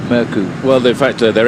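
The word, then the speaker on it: Mørkøv: now on as michael murku because the danish television's informed us they don't pronounce the v on his name which is murkoff so from now on it's merku well the fact that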